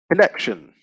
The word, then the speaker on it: connection: So the next one we've got is connect, and the noun would be connection. So from connect to connection, you see the stress is still on the same syllable, the second syllable, and the adjective connected.